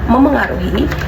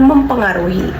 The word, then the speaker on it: memengaruhi: Pada kata memengaruhi, mahasiswa sering sekali mengujarkan atau mengucapkan mempengaruhi. Jadi bunyi meh gitu. Jadi bunyi meh diucapkan jadi peh.